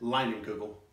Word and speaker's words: Leinenkugel: Leinenkugel.